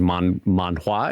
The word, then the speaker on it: manhwa: Basically, the owner saw the collapse of the manga market in, I believe it's actually pronounced manhwa.